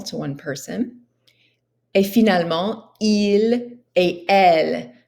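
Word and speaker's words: ils: Et finalement, il et elle. Notice you don't pronounce the S at the end.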